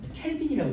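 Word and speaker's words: kelvin: 캘빈이라고 읽어요.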